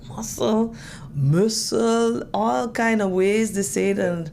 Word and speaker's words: Mossel: Muscle. Muscle.